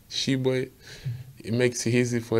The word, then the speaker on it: Tshiebwe: The crazy one I hear was somebody called me like Tshiebwe, like Tshiebwe, something like that. I was like, who are you calling? Like, that's not my name. That's not me. My name's like in French pronunciation is French. Like I probably say they call it Tshiebwe. But it's here to make it a little bit easy. You can call me Tshiebwe. That's how I say it, like Tshiebwe.